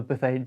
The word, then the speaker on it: Buffet: so here i've got the bathage line or the buffet divine depending on your pronunciation choice um and this really